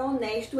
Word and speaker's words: honest: E a segunda parte é que o H ele é mudo. Por exemplo, a palavra honesto em inglês, que em português também o H é mudo, não é?